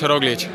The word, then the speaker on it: Roglič: Ah, Primoš Roglič. El equipo se llama Groupama FDJ. Y se pronuncia Groupama FDJ.